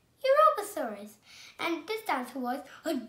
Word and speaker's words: Europasaurus: europasaurus i'm going to tell you how to pronounce it you ro pa sor us europassaurus and this dance was a georgetic dinosaur and